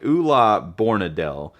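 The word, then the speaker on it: Ole Bornedal: Oola Boradel I think is how you pronounce his name. Maybe it's spelled like this. This is how you spell it. So it looks like it's how you would pronounce it, but it I believe it's Oola is how it's pronounced.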